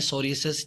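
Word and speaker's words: psoriasis: यहाँ पर P silent है आपका। इस कंडीशन को नाम देते हैं सोरियोसिस, जो कि कॉमन क्रोनिक स्किन डिसऑर्डर है।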